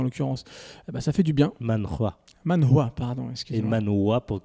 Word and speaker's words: manhwa: Ok, donc il y a du coup le H qui est prononcé.